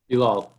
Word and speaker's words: Bilal: Bilal. Okay, Blau. Is that how you pronounce it? Yeah, it's like Bill and all. Put them together.